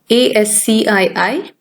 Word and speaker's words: ASCII: ASCII, pronounced as ASCII.